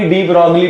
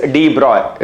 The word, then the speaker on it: de Broglie: बच्चे हम हिंदुस्तानी डी ब्रॉगली पढ़ते हैं. इट इज नॉट डी ब्रॉगली, इट इज डी ब्रॉय.